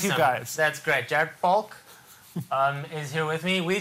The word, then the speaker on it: Falk: Falk. That's rude to say people's last name wrong.